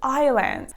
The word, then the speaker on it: island: in these two words letter s has no function I don't know why they are in these words so be careful that these are Isle and Island I personally think that